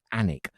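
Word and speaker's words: Alnwick: night I've just remembered a place that I was corrected with the pronunciation got to get this right anic I do believe the anic Brewery Company every Friday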